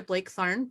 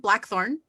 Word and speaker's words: Blackthorn: known world uh this week is duchess patricia blake tharn blackthorne because it's only spelled blake but it's pronounced black of the west kingdom and next